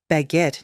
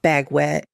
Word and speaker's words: baguette: "Baguette, not bag wet.